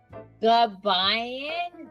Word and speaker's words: Gabayan: I pronounce your surname goodby you put the emphasis on the second a Kayan my nurses would always